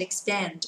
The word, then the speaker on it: expand: Nhớ đọc lại cô nhá, từ này không đọc là expand, chứ không đọc là expand nhá, đọc âm này là âm A, dẹp miệng âm một chút xíu nhá.